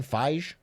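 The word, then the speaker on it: Feige: Kevin Fage.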